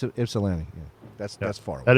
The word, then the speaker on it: Ypsilanti: Yeah, It's Ypsilanti.